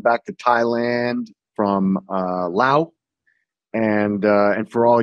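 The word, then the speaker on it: Laos: to Thailand from uh Lao and uh and for all y'all who don't know you don't pronounce that s on the end you feel me ah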